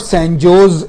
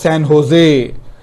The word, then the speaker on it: San Jose: from long time ago, in Spanish, J is pronounced as H. We call it Julio, they will call it Julio. So therefore it was not San Jose, it was San Jose.